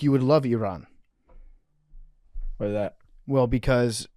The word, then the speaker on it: Iran: You gotta roll your R. Iran. Oh, well, now that's expert mode. Yeah, being accurate. So, Arian, you would actually, I feel like you would love Iran.